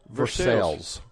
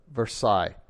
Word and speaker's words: Versailles: And it's spelled Versailles, and of course we call it Versailles. Yeah, instead of Versailles. Even if you live there. Even if you live there, it's called Versailles.